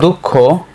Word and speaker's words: দুঃখ: উচ্চারণটা এইযে বিসর্গের উচ্চারণ সাধারণত বিসর্গ যদি আসে এর পরের বর্ণটা দুইবার উচ্চারিত হয় যেমন আমরা বললাম অতঃপর অত পর ঠিক আছে বাট আবার আমরা যখন বলব দুঃখ এখন কিন্তু খ দুইবার হবে না।